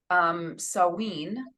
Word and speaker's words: Samhain: Samhain is one way to pronounce it, is Gaelic, the new year in the pagan tradition.